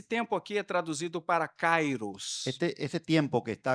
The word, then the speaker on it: kairós: aquí es traducido para cairos este ese tiempo que está acá se traduce de la palabra cairos o cairó o cairó sí la pronuncia correta es cairó la pronunciación correcta es cairó no grieg en el